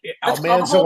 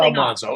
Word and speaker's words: Almanzo: And now you're clarifying, you know, like Cole Porter, tomato, tomato, potato, potato. Almanso, Almanzo, it's all the same thing.